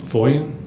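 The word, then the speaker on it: Foyen: who that detective was David his last name is spelled I believe f-o-y-e-n foia so at the time that you turned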